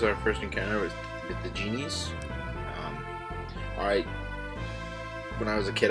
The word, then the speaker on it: djinn: They're just genies, or I guess like before when I was seeing it, it was just djinns.